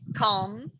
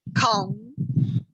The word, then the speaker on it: comb: Pettine è comb, si dice proprio comb. La B ve la mangiate, non la dovete pronunciare.